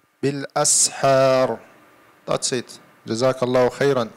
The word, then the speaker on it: بالأسحار: Don't say أسحار, يعني it's not صاد, this is سين. بالأسحار.